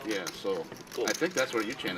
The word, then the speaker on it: Seoul: It's pronounced soul. I'm like, It's really? pronounced soul. Soul, yeah. S-O-U-L. Like it's pronounced like S-O-U-L. Yeah, Seoul.